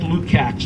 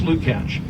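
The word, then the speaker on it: Lukács: a George Luke catch it looks like Luke acts but it's pronounced Luke ouch and in Germany a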